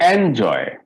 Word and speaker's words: enjoy: can you see yes so in verb we have to stress on second syllable can you pronounce all